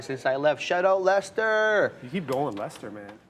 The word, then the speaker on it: Leicester: Because if you look at Leicester, you're like Leicester. Because that's how it's spelled. Leicester. It's not Lester like us.